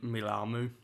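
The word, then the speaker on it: Mealamu: boy the best yeah i went for kevin milamou that's how you pronounce his name yeah no some of these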